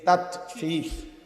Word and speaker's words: তাতফিফ: তাতফিফ শব্দের অর্থ হলো, আমরা তাতফিফ বাংলা কথা শব্দটা বুঝছি না, উচ্চারণটা ত আকার তা, ত তাত, ফ দীর্ঘিকার ফি, ফ ফিফ, এই তাতফিফ, এই হলো শব্দটা।